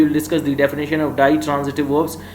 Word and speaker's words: ditransitive: discuss the definition of ditransitive verbs you can also pronounce it d transitive verbs die means to and transitive which can